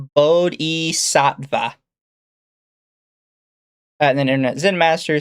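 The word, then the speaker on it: bodhisattva: Toa says it's pronounced Bodhi Sattva.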